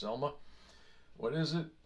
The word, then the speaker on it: zlma: Hi, I would like to talk about a new piece of free software called ZVM in Linux Modern Administration, or zlma, possibly pronounced Zelma.